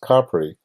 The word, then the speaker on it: Capri: most people say complete which is incorrect in Italian that's pronounced Capri which is a beautiful